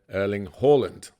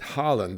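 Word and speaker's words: Erling Haaland: broadcastter strict instructions that his name has two pronunciations if you are Norwegian you may call their mega striker erling Halland but elsewhere in the world he insists that Harland is the way he wants it and nearly at the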